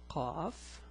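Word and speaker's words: ق: Now, the pronunciation is a bit hard. It's Qa, not Ka, it's Qa. There's a difference and I'll show it to you later in this video.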